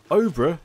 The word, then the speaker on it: Obra: and it says at the bottom of this Oprah is pronounced like Cobra without the sea and it's